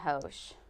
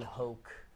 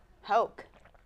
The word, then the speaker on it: Hoch: Mark Feinson just retweeted Brian Hoche. Brian Hoche covers, you know. Brian Hoke, Hoke. Kelsey. Rhymes with Coke.